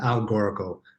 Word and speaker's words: Algoracle: But so, could you explain what Algorical is? Am I pronouncing that right? It's kind of it's not the easiest to say. Yeah, Algoracle. So it's Perfect. Algorand-based Oracle. Just cut out the middle part.